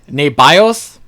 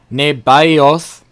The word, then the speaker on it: Nebaioth: Nebaioth, Nebaioth, the firstborn. Well, I guess it'd be T, not Th.